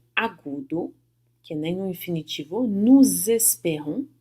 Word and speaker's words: nous espérons: Nous espérons, fazendo a liaison, né, pronunciando o S do nu como se fosse um Z.